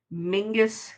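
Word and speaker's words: Menzies: to put in brackets that it was pronounced mingus because it is spelled phonetically menses. Exactly. Like mckenzies. M E N Z I E S.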